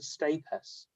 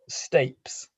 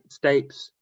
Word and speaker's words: stapes: the malus incus and stus which organ would one find the malus incus and stus you sure it's not pronounced stapes oh flip you might be right yeah yeah stapes sorry in which organ